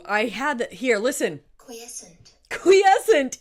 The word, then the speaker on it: Quiescent: Quiescent is the way that it's pronounced.